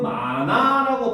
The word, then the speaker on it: 많아: 있어 자 여기서 보면 지금 마나라고 발음이 되죠 그렇죠 그렇죠 자 만 아라고 하지만 발음을 하면 마나 렇게 되겠지 그렇지 자 그래서 여기서 일어나는 것은 바로 뭐다 히이 탈락을 하더라는 거죠 알겠습니까 자 그래서 최근